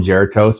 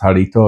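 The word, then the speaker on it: Jarritos: I call them gertos, but it's pronounced harito.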